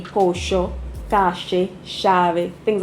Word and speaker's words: pollo: very particular, you know, the double L and the Y, they pronounce it as sh. So like you learned pollo in school, it would be pocho, cache, chave, things like that.